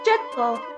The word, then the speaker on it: Jetto: Gito sounds a lot like Jetto, which is how Jet is pronounced in Japanese.